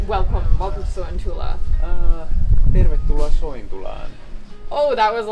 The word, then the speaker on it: tervetuloa: Tervetuloa Soentulaan.